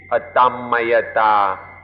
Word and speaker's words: Atammayatā: A Thai pronunciation would be Atammayata, but the way it's written in English, it would look like Atammayata.